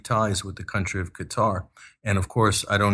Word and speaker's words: Qatar: and Qatar Financial sources us commentators call Qatar they call it cut cutter which is the wrong pronunciation but unfortunately we have to suffer that when you watch us uh commentators like wolf Blitz are calling it cutter it's really Qatar yeah so so that